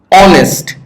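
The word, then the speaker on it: honest: অনেস্ট, দেখো তুমি বলতে পারো স্যার এটার প্রথমে তো এইস আছে, এটা তো কনসোন্যান্ট, কিন্তু এটার উচ্চারণ কেমন হয়?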